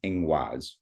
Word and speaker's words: ingwaz: The Proto-Germanic word for this symbol is ingwaz.